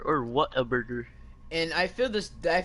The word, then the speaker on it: Whataburger: But I've never ever in my vocabulary, I'd never pronounce it what a burger. I don't know why. But that's how it's spelled, I know dude. I know how it's spelled, but it's just my when I see it, I say it as what like Waterburger.